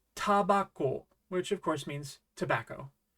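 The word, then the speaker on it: タバコ: How would you pronounce this? It's tabako, which of course means tobacco.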